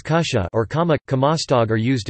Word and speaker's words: kutja: Words like kutja, pronounced as kusha or kama, kamastog are used instead of apparently.